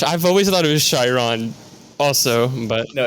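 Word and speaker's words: Chyron: shirem partner with us please if you could pronounce their name right i'm sure they would like tyron whatever believe it or not i accidentally said that and they were like it's chiron you know yeah cause i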